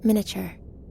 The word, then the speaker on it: miniature: I don't know if I've ever heard anyone say miniature is 4 syllables. Isn't it, though? Miniature.